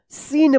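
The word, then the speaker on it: scene: सी silent रहेगा। क्या पढ़ेंगे इसको? सीन पढ़ेंगे।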